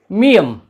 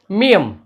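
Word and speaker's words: 미음: इसके बाद जो अक्षर आएगा वो है मियम, ये एक बॉक्स की तरह है, मियम। इसका एकमात्र उच्चारण है म म।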